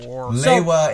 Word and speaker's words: Lewa: Lewa is how the team in Denmark pronounced it.